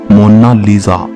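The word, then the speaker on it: Mona Lisa: कोई इसे मोनालिसा कहता है तो कोई मोनालिसा कहता है, लेकिन इटालियन में इसकी करेक्ट प्रोनाउंसिएशन है मोनालिसा।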